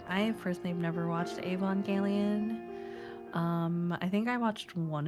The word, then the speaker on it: Evangelion: Oh, Evangelion.